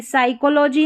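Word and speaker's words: psychology: फिर है, ये ऑलरेडी आ गया, PS में जो जैसे ये साइकोलॉजी है ना, PS शुरू में है तो P साइलेंट है, साइकोलॉजी पढ़ा। और साइकोलॉजिस्ट में भी P साइलेंट है, ठीक है।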